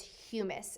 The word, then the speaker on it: humus: and i do have a habit of saying hummus sometimes because that's something we commonly eat but it is pronounced as humus and it's decayed organic matter so just basically